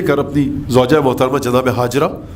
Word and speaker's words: ہاجر: اپنی زوجہ محترمہ جناب ہاجرہ، جن کو ہم اردو میں ہاجرہ کہتے ہیں بلکہ اس کا صحیح تلفظ ہاجر ہے، جناب ہاجرہ کو لے